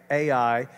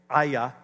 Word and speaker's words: Ai: I used to say AI. It's spelled AI in English, but it's actually, because Hebrew is a guttural language, it's Aya. Aya. It almost sounds like something off of Cobra Kai, right?